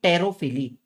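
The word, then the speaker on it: pterophily: तो उनके लिए एंड ये आता है लास्ट अपना बर्ड बैट का टेरोफिली। इसको कैसे पढ़ने का? पी साइलेंट रहेगा।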